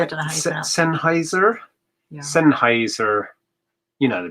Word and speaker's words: Sennheiser: Sennheiser.